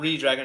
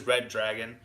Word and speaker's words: Redragon: you Tim but yeah it's not redragon it is red dragon like I said I thought just because of the way it's spelled I thought it was redragon but okay thank you